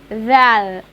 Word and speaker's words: ذال: After then, ذال, ذال in Arabic equal THE in English.